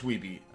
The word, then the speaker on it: Wiebe: Which I believe is how you say his name. Yeah, it's Wiebe. Some people think it's Steve Wiebe.